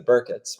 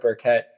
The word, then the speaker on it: Burkett: pronounces us as the burkitts but i find that when i introduce myself as burkett people hear that sharp syllable so i go with burkett so you made me